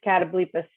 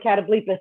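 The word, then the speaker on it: catoblepas: to bargain with this catablephis i used to call it a cat obliqus when i was a little kid i know that's not how you say it but close enough yeah we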